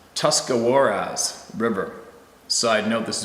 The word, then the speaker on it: Tuscarawas: It's a stretch of road that runs very close to Tuscarawas, pronounced Tuscarawas River.